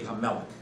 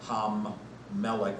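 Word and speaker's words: hamelech: We have the king, but there would be hamelik, not hammelik or halmelik, but uh in their pronunciation, they merged that into one word, hamelik.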